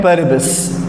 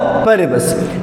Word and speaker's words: paribus: एक का प्रोनाउंसिएशन है सेटिरिस और दूसरे का प्रोनाउंसिएशन है पेरिबस। ठीक है, तो सेटिरिस और पेरिबस।